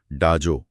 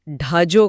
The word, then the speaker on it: ढाजो: यह प्रयास अच्छा था, लेकिन इसे ढाजो कहा जाता है। ढाजो। हां। डाजो का उच्चारण करते समय आपको अपनी जीभ को तालू से थोड़ा अंदर की तरफ ले जाकर झटके से बोलना होता है।